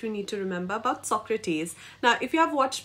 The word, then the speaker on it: Socrates: we talk about Socrates it's not Socrates it's Socrates okay so with that